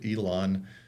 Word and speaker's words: Elan: It's over at the Elan, which is, I think, across from the Rim, Eilaan. I think that's how you pronounce it. Not Elon Musk. It's Elan, that big center there.